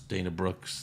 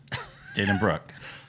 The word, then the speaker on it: Dana Brooke: almost five years and you still pronounce Dana Brooks name wrong yeah Dana Brooke yeah Dana Brooks yeah but that's not